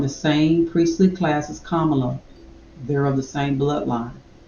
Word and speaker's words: Kamala: like KLA Harris yes her name is Kamala Harris not Kamala Kamala and the only reason